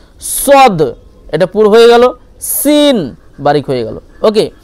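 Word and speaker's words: س: আর তারপর দেখেন সিন আর সদ, সিন, সদ, এগুলো উচ্চারণ প্রায় একই রকম, শুধু পুর মানে মোটা আর হচ্ছে বারিক পাতলা, এর পার্থক্য। সদ এটা পুর হবে, মোটা হবে, এবং সিন বারিক হবে, ঠিক আছে?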